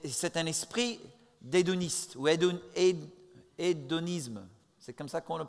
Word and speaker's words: hédonisme: É c'est un esprit d'édoniste ou hédonisme, c'est comme ça qu'on le prononce.